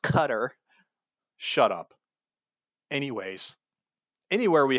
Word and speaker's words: Qatar: They could target our bases in like Syria, Iraq, uh, Qatar. I know it's pronounced differently. Oh my god. You know, it's actually it's pronounced Qatar.